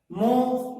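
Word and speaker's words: mho: इसका मात्रक जो है प्रति ओम अथवा मो होता है। मो यहाँ एच को साइलेंट पढ़ लिया जाता है, मो भी पढ़ सकते हो लेकिन मो अक्सर पढ़ा जाता है, यम एच ओ।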